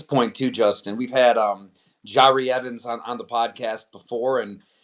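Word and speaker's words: Jahri Evans: Jari Evans.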